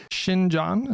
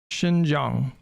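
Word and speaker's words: Xinjiang: Shining Jang, is that how you say it? They inevitably come to the same conclusions that that I Shinjang, I've been yelling about for quite a while.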